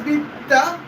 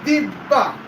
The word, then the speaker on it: Divya: My mispronouncing is Vidya, that would be Divya.